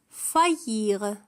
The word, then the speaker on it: faillir: faillir. faillir تكتب F-A-I لكن تنطق فا.